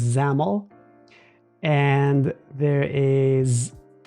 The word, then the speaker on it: XAML: of XML that I'm told is pronounced xaml and there is e